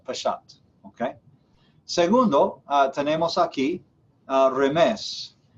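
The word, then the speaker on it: remez: Segundo, remes, R-E-M-E-Z, remes.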